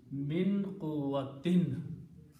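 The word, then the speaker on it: من قوة: And min is a harfajar, and what harfajar does, it looks at the last two dhammas and changes it to two kasras. So this the pronunciation becomes min quwwatin.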